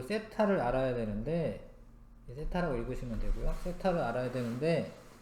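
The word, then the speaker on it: θ: 근데 원래는 중심각의 크기를 알아야 되니까 요 세타를 알아야 되는데, 세타라고 읽으시면 되고요.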